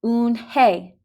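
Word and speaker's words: Unhei: turned to joey she nodded slowly yes it's pronounced oon hey and it means grace mr kim added oon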